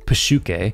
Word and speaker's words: psyche: shoots himself layer three PUK the series uses the original Greek pronunciation for psyche begins with Lane and